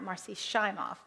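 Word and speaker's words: Marci Shimoff: shimoff or Marcy shimoff I've learned the correct pronun of her pronunciation of her name is with a long eye Marcy shof um what she says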